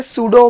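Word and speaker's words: pseudo: और सुडो force इस याद रखिए सुडो में पी साइलेंट होता है ठीक है तो क्वेश्चन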